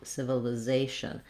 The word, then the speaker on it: civilization: we want civil civilization the l is going to be more of a front light l because it's starting this li syllable because with words with a lot of syllables it can be really helpful again to do that zation civilization but how did i